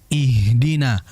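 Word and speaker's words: اهدنا: Kar kalau kita istilahkan H ini ya seperti kalau kita kelelahan dalam olahraga. Nah seperti itu pengucapan kurang lebih.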